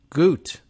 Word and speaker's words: Goot: in 2019 Murray Goot Goot spelled like boot but with a G and Emeritus professor of